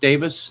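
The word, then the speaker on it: Davies: last name is pronounced davis yes this the e is uh the e is silent on that side of the pond at any rate it's a welsh name um okay let's uh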